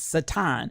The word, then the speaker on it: Satan: call him satan uh in the jewish they they pronounce satin so if we understand